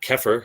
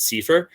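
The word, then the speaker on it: CEFR: may run into is seifer it's not kefir i don't i mean maybe somebody pronounces it keffer but i've only heard it pronounced sifer that's the common european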